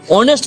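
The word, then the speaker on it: honest: কখনো কখনো কনসোনেন্ট দিয়ে স্টার্ট হওয়া শব্দের আগে যদি এইচ থাকে এবং সেই এইচ এর উচ্চারণ যদি না হয়, তখন সেক্ষেত্রে আমরা এ না বসিয়ে এন বসাই।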